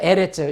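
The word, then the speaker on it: ארץ: 그 다음에 알렙에다가 긴 아. 그 다음에 레시에다가 점 세 개니까 에죠. 레. 그 다음에 짜 뒤에 꼬리형. 그래서 에레츠.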